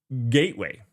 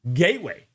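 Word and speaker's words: kgateway: Gateway, if you guys didn't know, the K is silent. The K is silent. Gateway, the next generation for Kub.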